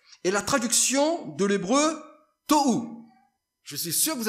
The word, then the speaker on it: tohu: Tohu, on prononce tohu.